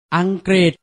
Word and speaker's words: อังกฤษ: ป ปลา ต เต่า มัก จะ อ่าน ออก เสียง ริ เช่น อังกฤษ ทฤษฎี หรือ ประสม กับ พอ